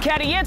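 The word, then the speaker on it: Cady: yo it's your boy c a d y pronounced cadit on another mission running the streets of Johannesburg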